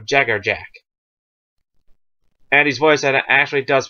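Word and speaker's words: Jaegerjaquez: if you want but if you actually want the Spanish Jager yakz if you want if you want the lital pronunciation of the syllables it'ser yakz or Jager Yak because a QE Z or S and some langes can be is Jack or jacks or jackz but in but bleach it's Jagger Jack so yeah just to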